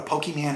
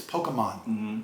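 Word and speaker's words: Pokémon: I don't know what a Pokemon is. No, I'm sorry. I got corrected. It's Pokemon.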